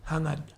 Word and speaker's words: Jangad: And your last name is Jangad. Hangad. Hang on. So Jangad, you do it's a Spanish. a G, sort of soft G or something like that.